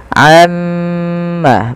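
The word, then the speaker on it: عَمَّ: baca Amma yatasaalun tapi tahan dahulu gunahnya atau bunyi suara mimnya sepanjang dua harakat Amma baru dilepaskan Amma yatasaalun kemudian PSA di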